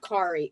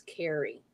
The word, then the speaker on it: Carrie: And it's not Kari, it's Carrie. That's how you pronounce it.